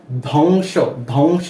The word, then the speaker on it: ধ্বংস: তো যারা সেটা দেখেছেন তারা তো বুঝতে পারছেন যে এখানে ধ্বংস ধ্বংস এরকম ভাবে কেন উচ্চারণ হচ্ছে।